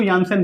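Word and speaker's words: Janssen: ठीक है, अब ये मतलब जो भी प्रोनाउंसिएशन हो इसका, इसको यानसेन बोलते हैं। ठीक है, लेकिन आप इसको जानसेन के तौर पे याद रखो, क्योंकि आपको याद रहेगा अच्छे तरीके से।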